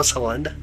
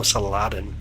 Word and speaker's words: Saladin: Salind. Did I say it right? No. No. No. Saladin. Saladin. No Saladin. Interesting name.